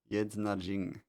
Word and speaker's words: Yednajing: Use magic for cruel purposes called the Yednajing. Yednajin. G is silent, and the reason they became nomadic is because of him.